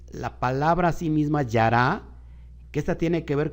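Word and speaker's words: ירה: Yud, Reish, Hei, y se pronuncia como yará.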